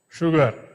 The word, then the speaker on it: sugar: is what he said only in the word sugar yes the letter yes is pronounced as sh sugar you know what Radha